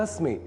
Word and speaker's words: अस्मि: ध्यान दिया होगा कि अहम अस्मि यहां अस्मि बोलने के क्रम में मैंने अस्मि के इ्रवा अक्षर का विशेष रूप से अर्थात लघुता के साथ उच्चारण किया है।